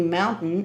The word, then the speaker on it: mountain: Palavras como, por exemplo, sentence, sentence, tem a palavra gluten, de glúten mesmo, gluten, e mountain é mais um exemplo de palavra que tem essa engolida no meio da pronúncia.